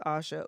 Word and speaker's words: Asha: Can you please, well, before I do that, actually, Asha, have I been saying your name wrong this whole time?